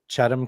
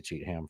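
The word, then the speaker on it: Cheatham: cheetle so out here we have a county called chadam County but it's spelled cheatam and I always want to say cheatam first I always want to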